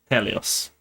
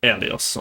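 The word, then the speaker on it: Ἥλιος: tail, and you have there is a small little apostrophe there that indicates there is a H sound before it. This is Helios. Helios.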